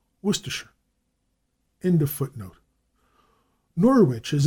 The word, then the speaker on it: Worcestershire: Footnote: I have often noted that Americans, in speaking of the familiar Worcestershire sauce, commonly pronounce every syllable and enunciated shire distinctly. In England, it is always Worcestershire.